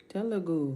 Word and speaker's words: Telugu: Pronouncing it. Telugu. Telugu.